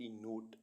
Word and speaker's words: knot: ऐसे वर्ड्स जिनमें अल्फ़ाबेट के साइलेंट रहता है। KNOT नोट, नोट मीन्स गांठ।